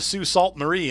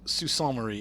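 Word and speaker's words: Sault Ste. Marie: Marie and he's like yeah I'm going to sue Salt Marie and I'm like no it's sue saw Murray and he's like anyway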